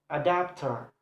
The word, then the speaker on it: adapter: For example, if for a word ending in adapter, the stress is placed on the second syllable, adapter.